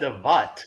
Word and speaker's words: Davut: Am I pronouncing it right, Davut? Hmm. Luna, is he? He said Davut.